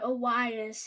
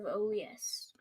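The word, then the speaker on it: Urías: say about that yeah I don't like that you say AAS instead of OAS oh oh did you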